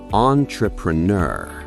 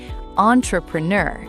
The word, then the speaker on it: entrepreneur: Now, listen to version number 3. Entrepreneur. That's the one. It's fluid, it's professional, and it has that on switch at the beginning. Entrepreneur.